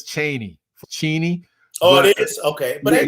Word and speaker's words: Cheney: it's this is a cheney but it's actually pronounced cheney but it's like uh what um the point